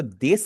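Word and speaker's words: です: और देश का जो ऊ है वो आपका साइलेंट होगा। इसे आपने कभी भी देसू आपने नहीं पढ़ना।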